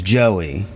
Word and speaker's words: Joi: So my friend's name is Joey. Okay, it's spelled Joi, but there's an inside joke that runs between Keith and myself and Joey that it's because it's spelled looks like joie, like in French.